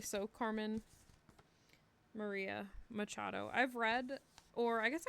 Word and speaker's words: Machado: of storytime Sundays and I was doubting the way that I was pronouncing the last name Machado and so I was saying like Macado and I don't know what the but I did look it up to make sure that I am crazy and yes I was um pronouncing that incorrectly so Carmen Maria Machado